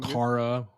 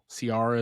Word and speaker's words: Ciara: We got Elise Francosi, I can't pronounce that, as Cara. Ciara is how it is.